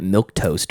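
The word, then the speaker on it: milquetoast: I always thought that milk toast was milk toast. Like Right. Same here. Like the But yeah, it's spelled with the Q.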